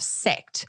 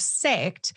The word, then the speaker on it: sect: the Hellenistic concept of sect. That's spelled S-E-C-T. And I know my Aussie accent can sometimes play around with how the vowels come out. So I wanted to spell that out.